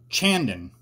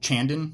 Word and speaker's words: Chandon: it fizzed over so Chandon it'll fizz over I think that's how you pronounce it Chandan right the French would say it that way okay so I guess